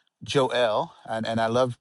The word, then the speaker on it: Joel: It's Joel, and I love pronouncing it that way.